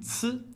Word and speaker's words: ci: Le ci est aspiré, contient davantage de friction et plus long.